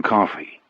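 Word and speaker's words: Coffey: Your name is John Coffee. Yes, sir, boss. Like the drink, only not spelled the same way.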